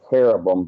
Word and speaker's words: cherubim: you know you know cherubim is actually care of them but um there in